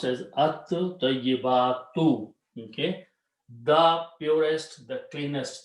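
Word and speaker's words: الطَّيِّبَاتُ: The sound of ta will kill the sound of lam, but its sound will become twice. So it becomes at-tayyibatu. This will be pronounced as at-tayyibatu.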